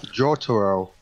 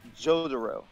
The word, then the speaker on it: Jotaro: How does everyone pronounce it? All right, I pronounce it Jotaro. Jotaro. That's how I pronounce it. You cut off, so that was even better. For me? Okay. Jotaro. Jotaro. You're like Jotaro. Jotaro. I say either way. I've heard Jotaro before.